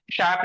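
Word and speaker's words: chef: उसके बाद देखना बाबू सी एच का श है ना तालव श का उच्चारण निकलता है कब निकलता है जैसे ये मशीन है पैराशूट है शेप है है ना शेफ जिसको बोलते हैं शेफ ऐसे बोलते हैं शेफ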